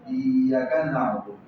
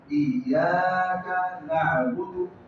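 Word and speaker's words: إياك نعبد: کو لمبا کرنا ہے، ایاک، ہاں اس کو ایاک، یہ یا کو شارٹ نہ کرے، ایاک نعبد یہ غلط ہے، ایاک نعبد، یہ ایک احتیاط یا کو لمبا کرنا ہے، دوسری کاف اور نون آپس میں ان کے درمیان بہت کم فاصلہ ہو کہ یہ بن جائے کنا، کنا نہ بنے ایاک نعبد و ایاک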